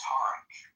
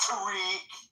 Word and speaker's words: Tarek: For those that don't know how to pronounce it, it's pronounced Tarek Johnson. Not Tariq. But he's too polite. It's Tarek.